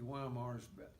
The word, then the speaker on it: Weimar: was a town named Weimar. They pronounce it Weimar. We pronounced it Weimar, Weimar. And we'd already gone by the other prominent town that we didn't know about, Dresden.